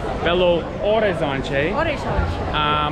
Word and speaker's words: Belo Horizonte: So on this particular episode of our Belo Horizonte, by the way, you don't pronounce the H, Belo Horizonte.